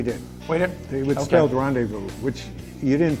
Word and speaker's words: rendezvous: wait it was scaled rendezvous which you didn't pronounce the z but it was there do you dump it out the z is silent why is it there